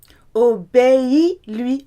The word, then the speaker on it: obéis-lui: Obéis-lui, obéis. You've got 3 syllables.